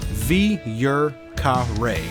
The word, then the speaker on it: Vieux Carré: The best way to pronounce this would be Vieux Carré.